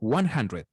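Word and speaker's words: hundred: 100, ahí dice 100. Esa U se pronuncia como si fuera una A. 100.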